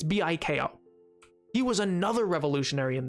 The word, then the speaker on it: Biko: Biko or Biko. It's Biko.